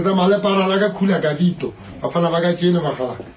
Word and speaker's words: Khula Gavito: Yes, Khula Gavito.